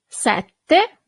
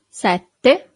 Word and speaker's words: sette: Sette. So you have a double T here. Sette.